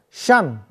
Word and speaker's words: shun: further words of command shun pronounced shun in British army and RAF and who in the Royal Navy bring your left leg